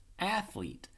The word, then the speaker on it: athlete: Athlete. Again, the E in the end is silent. It makes no sound, and it bosses this vowel E from a short E to a long E.